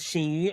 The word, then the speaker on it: Xinyu: Uh, my name is Shini. I know my name is super hard to pronounce, but because it start with X. There are barely much English word star with X. So X pronounced as sh.